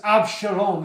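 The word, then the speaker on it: אבשלום: over his son absum his own name in Hebrew means my father is peace AB Shalom is how you say it my father is peace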